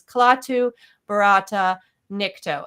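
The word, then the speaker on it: Klaatu barada nikto: Now, he's not saying it correctly. The original phrase was Klaatu, Barata, Nikto.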